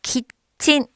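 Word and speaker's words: キッチン: 그래서 키친.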